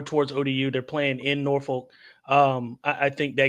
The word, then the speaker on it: Norfolk: Troy travels to Norfolk or Nafolk if you locals say it, uh, to take on ODU Thursday.